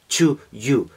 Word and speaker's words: 2U: Ese doble sentido, ese juego, esa homonimia de To para You, para ti, con un 2 que se pronuncia más o menos igual en el idioma de estos señores, que es el inglés.